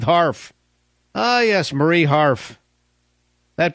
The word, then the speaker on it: Harf: The fall of Mrs. Barf rhymes with Harf.